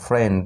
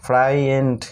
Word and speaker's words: friend: তো তারপরে ওয়ার্ডটি দেখো FRIEND ফ্রেন্ড, এখানে কিন্তু আই উচ্চারণ হচ্ছে না, এক্ষেত্রে কিন্তু সেরকম কোনো নিয়ম নেই, এটা আমাদের মনে রাখতে হবে FRIEND ফ্রেন্ড, ফ্রাইয়েন্ড কিন্তু না উচ্চারণ, ঠিক আছে? এখানে আই লেটারটি বাদ দিলে কিন্তু উচ্চারণটা বের হয়েছে FRIEND ফ্রেন্ড, এরকম উচ্চারণটা কিন্তু হয় ফ্রেন্ড। তারপর BUSINESS বিজনেস, এখানে আই